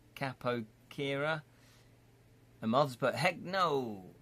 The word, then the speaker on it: capoeira: Very pro-theatric with rogue discipline like the Brazilian dance style capoeira, pronounced capoeira.